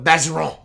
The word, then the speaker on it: Bergeron: It's spelled Bergeron, but is in South Louisiana called a Bageron.